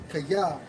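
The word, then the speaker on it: חָיֶה: And Miss Biles, man, when you go into their term in the Hebrew for lively, it's Strong's H 2422, pronounced as kaya, which means lively, vigorous, strong, and robust.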